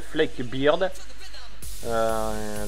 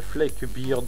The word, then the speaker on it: Flak Beard: Donc ça c'était pour le dragon pirate qui s'appelle le Fleck Beard. Donc voilà. Donc le Fleck Beard, je vais vous marquer ça.